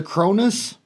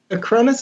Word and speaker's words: Acronis: You said it was a Cronus? Acronis is the software that we use. Cronus is the software. Kronis? Acronis. Spell it again.